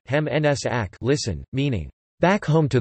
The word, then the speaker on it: Heim ins Reich: The Heim ins Reich, German pronunciation, Heim ins Ack, listen, meaning, back home to the Reich, was